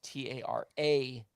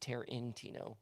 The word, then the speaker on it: Tarantino: spell it t-a-r-i-n-t-i-n-o it's t-a-r-a-n-t-i-n-o taran tino not tear in tino even though it's pronounced